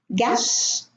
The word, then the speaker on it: guess: Guess, no U.